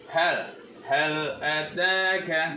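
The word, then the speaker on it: هل أتاك: mati bertemu dengan alif, maka harus dibaca juga dengan jelas. Hal ataka hadithul ghasyiyah. Nah, jadi harus bacanya hal ataka. Jadi dari kata huruf ininya yang lam matinya bertemu dengan alif, jadi harus dibaca idhar mutlak.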